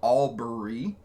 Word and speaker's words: Albury: we're in Albury Aubrey it's called Aubrey it's it's spelled Albury which is the city